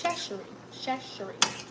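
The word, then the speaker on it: Chachere: But I was saying Tony Chachery. But that's not it. It's Chachery. Or at least that's what somebody from Louisiana told me. So I hope that's right.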